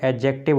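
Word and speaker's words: adjective: देखिए एडजेक्टिव आप नहीं पढ़ेंगे, एडजेक्टिव होता है। देखिए एडजेक्टिव में ये देखिए यहाँ पर डी साइलेंट होता है, डी को नहीं पढ़ते हैं, प्रोनाउंस करते हैं तो एडजेक्टिव पढ़ते हैं, ना कि एडजेक्टिव।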